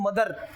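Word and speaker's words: mother: रहता है ध्यान रखना किसी भी वोवेल साउंड के लास्ट में अगर इ आर उसके साथ तुरंत लगता आर आपको नजर आता है आर इज इन रेट तो ये आर हमेशा रिमेन साइलेंट रिमेन साइलेंट ये हमेशा चुप रहता है मेरी बात समझ रहे हैं जैसे शब्द लिखा है मदर अब हम लोग बोलते हैं मदर मदर बोलते हैं ना इसको बोलना क्या मदर ई आर are sound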